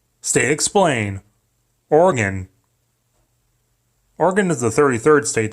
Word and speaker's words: Oregon: with an I, not Oregon, like how you spell it with an O, because spelling things right is dumb. It's organ, like an old piano with pipes or your inner parts.